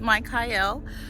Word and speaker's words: Michael: My name is Mike Hyel. Anybody who has done research or is a theologist, you may already know this, but it is the biblical pronunciation of the Archangel Michael.